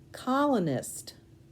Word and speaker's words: colonist: I just realized that some people might say colonist, and they would have the middle syllable be open and the nist all together at the end. So it would be col, C-O-L, O, nist, N-I-S-T. Either way, you're going to spell it correctly.